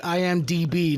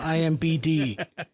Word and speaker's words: IMDb: They literally said, for the love of God, please tell Michael it's IMDb, not IMBD.